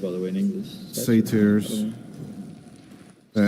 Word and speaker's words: satyrs: And in Hungarian we say satyr, but I believe in English we say satyrs. It's not it's not satire. It's not satire like the genre, right? It's a little different. No. It's with a Y.